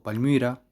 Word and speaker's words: Palmyra: Palmira o Palmyra, no sé si pueden escuchar ahí la pequeña diferencia, la pronunciación entre la I latina y la Y.